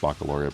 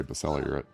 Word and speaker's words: baccalaureate: program the cellular uh it's pronounced baccalaureate but he likes to say besella you're it um which was a